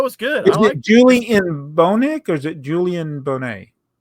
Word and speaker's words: Bonet: Is it Julian Bonek or is it Julian Bonet? Let's go with Julian Bonet.